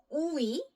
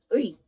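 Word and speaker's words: 의: So this is probably one of the most difficult syllables to pronounce. It's ui. Quickly. Ui. Okay.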